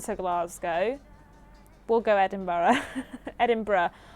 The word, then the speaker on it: Edinburgh: I always say it wrong. I know I say it wrong. Someone told me off the other day, but I say it wrong, don't I? I say Edinburgh, but I know it's Edinburgh. Edinburgh.